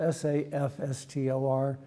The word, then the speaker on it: SAFSTOR: industry will call it SAFSTOR, but it's spelled S-A-F-S-T-O-R, and your third grade teacher will be rolling over in her grave because that's pronounced SAFSTOR. Rhymes with SAP, not safe.